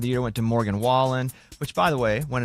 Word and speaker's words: Wallen: night Entertainer of the Year went to Morgan Wallen which by the way went announcing that here's Jeff Bridges mispronouncing his name and the CMA award for Entertainer of the Year goes to Morgan whan you know what anybody about Jeff Bridges i'